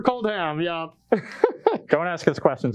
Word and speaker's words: Kaldheim: do you say it is it cold ham or cold hot yeah for cold ham yeah don't ask us